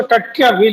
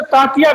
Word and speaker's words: टंट्या भील: जी, स्थानीय बोली में उसको टंट्या भील ही कहा जाता है, टंट्या भील ही कहा जाता है। जी। अंग्रेजों ने उसे तांतिया भील लिखा है। हुँ, अंग्रेजों ने जो स्पेलिंग का इस्तेमाल किया है, उसका शाब्दिक अर्थ निकलता है तांतिया।